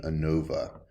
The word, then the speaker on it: ANOVA: variance analysis of variance is usually just pronounced by this abbreviation ANOVA so you'll hear me say ANOVA a lot and you'll see